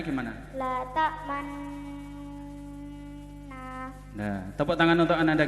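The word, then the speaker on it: لا تأمنا: Bacaan ismam artinya bibir mencucu atau mencong di tengah-tengah dengung sebagai isyarat bunyi dhammah.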